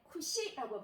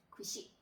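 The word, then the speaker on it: 串: 우리가 양꼬치 구이집에 가면 간판에 이렇게 적혀 있는 걸 여러분들이 아마 보셨을 건데, 자, 이렇게 꼬지는 쿠시라고 발음을 합니다. 쿠시.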